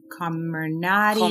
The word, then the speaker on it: Comirnaty: So just to clarify for the audience and for myself, the Pfizer shot, which we were talking off air how to pronounce it, is Comirnaty.